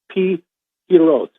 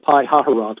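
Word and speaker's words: Pi Hahiroth: It's Pi Hiroth. It looks like Pi Haharoth, which is the way I've been saying it, but I guess in Hebrew it's a Pi Hiroth, in front of a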